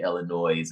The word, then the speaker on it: Illinois: Jennifer ly jlv says who determined the s in Illinois is silent anyway is it there to be pronounced I guess when you say Illinois right because I know